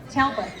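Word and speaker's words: Taulbut: It's spelled unusually, but it's Talbot. Talbot. See, I apologize, but it's spelled T-A-U-L-B-U-T. There's the silent R in there.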